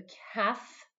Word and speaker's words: calf: Vous remarquez la phonétique en dessous du mot, comme vous le remarquez dans la phonétique, le L ne se prononce pas. A calf, calves.